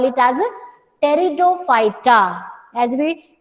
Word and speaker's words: Pteridophyta: For the third division, while pronunciation the alphabet P it will be silent. तो spelling में आप P लिखेंगे, but while pronouncing you will call it as Pteridophyta.